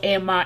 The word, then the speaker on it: Amer: out uh how do you say your surname emma or okay you're saying i am emma and i'm creating this this is the opportunity